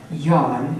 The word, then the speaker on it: Nhân: And so to wrap things up, we have yawn. It looks like non, but it's pronounced yawn, but that is very opposite of his personality.